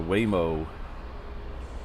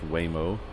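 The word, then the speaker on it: Waymo: So Mike was asking about the Whimo. I think it's Whimo, even though it's spelled with Veo. That would be Hawaiian. Whimo. I think that's how you say it.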